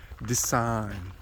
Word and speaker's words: design: uh people correct me and said that it's pronounced design and it was difficult for me but I